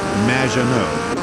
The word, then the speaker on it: Maginot: It's Madge, which rhymes with badge, as in duh, and no as in more than you. Maginot.